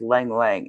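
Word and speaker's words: ylang-ylang: The first time I used that lang lang stuff. It's spelled y l a n g. But, I looked up the pronunciation and it says lang lang and that's a really like an oriental kind of smell.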